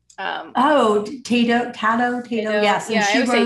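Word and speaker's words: Taddeo: Um, Oh, Tato, Tato, yes, and yeah, I she would say wrote, Tato.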